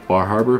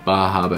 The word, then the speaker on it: Bar Harbor: the acadia bajaba area sometimes i try and say normal bar harbor but it's bajaba if you want to be a local yeah so make sure